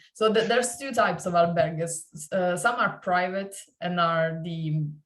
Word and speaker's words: albergues: it's pronounced? Okay. Albergues, yeah, Yeah.